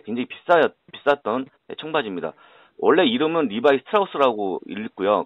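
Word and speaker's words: Levi Strauss: 원래 이름은 리바이 스트라우스라고 읽고요.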